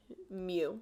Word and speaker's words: mu: this little me this is the Greek letter mu that's how you say it okay variance is